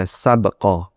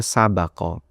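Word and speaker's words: سبق: Kata sabek di sini ada dua cara baca. Bisa dibaca bnya di sukun, bisa dibaca bnya di fathah, bisa dibaca sabqo, bisa dibaca sabaqo. Kalau dibaca bnya di sukun, sabqo bimakna musabaqoh.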